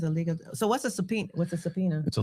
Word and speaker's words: subpoena: Um, what is a subpoena?